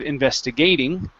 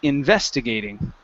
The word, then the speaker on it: investigating: this word here investigating the stress is right here instead of investigating it's investigating investigating okay almost so um